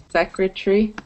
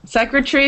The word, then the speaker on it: secretary: secretary separate documentary Elementary so even though that a is there when you pronounce them naturally you don't hear it it's silent so Rennie do you